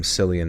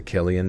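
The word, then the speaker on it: Cillian: when I was younger I always called him slian Murphy and to me that's like a barenstein bears type situation where everybody changed it to Killian Murphy and I was just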